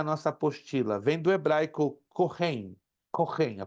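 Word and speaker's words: כהן: apostila vem do hebraico corem corem a pronúncia é se escreve coem mas se pronuncia corem significa sacrificador essa palavra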